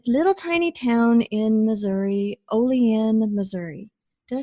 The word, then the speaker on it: Olean: billboard yeah a little tiny town in Missouri Olean Missouri did I say that right you said